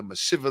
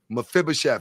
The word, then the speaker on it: Mephibosheth: left in her family and if there's a meshiver that's out there pronounce the word what was uh mephibosheth yes I'm just a little tongue-tied today if